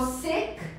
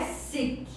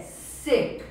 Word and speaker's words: sick: E se for sick, é doente. I'm sick. I'm sick. Atenção para a pronúncia, não é sick. É sick. É um i bem breve.